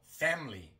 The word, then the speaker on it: family: También en family. Normalmente no decimos family, sino family. Family. Omitimos la I.